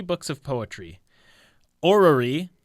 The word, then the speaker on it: Orrery: Orrery, I'm never quite sure if I'm pronouncing that right. You got it.